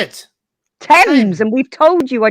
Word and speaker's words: Thames: Thames, and we've told you I don't know how many times.